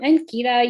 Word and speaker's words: Ankita: yeah all right so hi i'm ankita you said it right eric um and i work